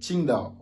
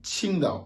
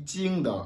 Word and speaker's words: Qingdao: La prononciation aussi, c'est du Qingdao. Vous voyez un peu Qingdao, le Qi, Qingdao. Il n'est pas dit Qingdao avec le J, non, c'est différent. Le J, c'est Ti, le Q, c'est Chi.